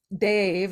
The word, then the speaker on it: Dev: And Dave, it's spelled DEV, but Dave means angel or transparent form of God.